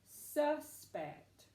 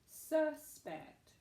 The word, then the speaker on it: suspect: what if you had what if you say it this way first suspect suspect there was a suspect in the case all right you're right it would be the first syllable but what if we used it as a verb I suspect he will